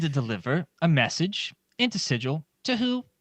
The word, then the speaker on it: Sigil: here in an identical building that's not in sigil so how did you get here the book says it's pronounced sigel actually yeah shut up about that uh well